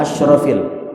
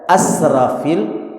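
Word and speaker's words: أشرف: Ya, dia baca asrofil itu yang benar. Kapan dia baca asrafil? Ya, asraf bukan asyraf. Apa artinya asrof? Asrof itu artinya boros.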